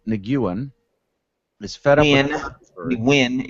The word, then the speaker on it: Nguyen: Because there was an Asian kid when I was in high school, and he pronounced it Nguyen. Maybe he just did that because just he Americanized it. Exactly. Yeah. It's Win. It's Win.